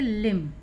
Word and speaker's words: LIMB: LIMB पढ़ेंगे लिम। THUMB पढ़ेंगे थम। इन दोनों में ही यू का उच्चारण आ के रूप में।